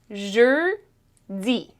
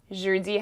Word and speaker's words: jeudi: Jeudi. Jeudi has two syllables, jeudi. So the end of the first syllable is je, di.